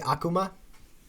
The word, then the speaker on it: Akuma: and 3 yeah I got pretty good with aqua ma oh oh boy that's it yeah you say Akuma yeah ok I say it correctly probably but